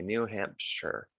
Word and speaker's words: New Hampshire: that's new hampshire but it's not pronounced shire you say new hampshire vermont new hampshire then